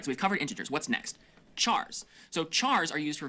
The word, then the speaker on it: char: short for character and sometimes you might hear people pronounce it as car oh so you can pronounce it like oh he said car but I mean care would work too cuz